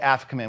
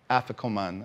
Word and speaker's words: afikoman: on with your thing this I call the Africa man well how do you how do you pronounce it Lee I afikoman all right she has a better pronunciation you